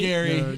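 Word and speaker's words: Gerry: I want to say Gary is spelled g-e-r-r-y that's yeah that's Jerry but they don't say Jerry Gary that's why it's a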